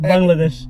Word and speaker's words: Bangladesh: How you pronounce it? Bangladesh.